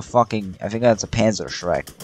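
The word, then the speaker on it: Panzerschreck: I think that's a Panzer Shrek, right? Also, I'm German. I can tell you how to actually pronounce it. Panzer Shrek is actually pronounced Panzer Shrek.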